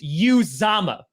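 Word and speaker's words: Uzomah: it's absolutely phenomenal because everyone's pronouncing his last name wrong and even aj hawk who played with him for a year pronounced his last name wrong is it yeah because it's you zama like you zama hugely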